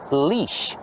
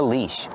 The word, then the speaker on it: leash: Use a long e sound like green beans. Leash. This is a leash.